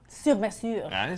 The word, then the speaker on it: Sur Mesure: Sur Mesure. See, we've been practicing. I got good pronunciation according to Francois.